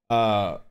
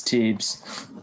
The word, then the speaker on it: Teebs: Trebs, is that how I pronounce it? No, it's Teebs. Wait, what? Teebs. Oh, there's no R? No R, brother.